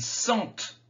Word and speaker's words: sentent: il vend ils vendent il sent ils sentent le thé se prononce il sort ils sortent